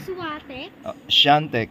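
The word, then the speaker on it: Świątek: Ang pronunciation ni Shantech. Polish. Ay ate Jerry taga ano siya taga Warso. Taga Poland. Sabi mo kay papa mo taga Poland yan. Swate Shantech ang pronunciation.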